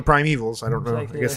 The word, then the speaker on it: Primevals: So you kind of want to call it the Prime Evolves, but it's it's just called the Prime Evils.